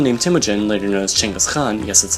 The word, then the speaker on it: Genghis Khan: 1205, when someone named Temujin, later known as Genghis Khan, yes that's how it's pronounced, decided that he also had enough of this, and decided to unite the Mongol tribes against China.